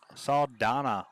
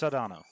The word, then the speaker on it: Sedano: anybody wants to go it's it's saw donna or whatever no it's sedano all right i'm not